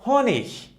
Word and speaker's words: Honig: If the letters E and G were at the end of the word, it could be pronounced like h or ik. Okay, for example, we have der Honig. Der Honig. Okay, and it could be pronounced like der Honig.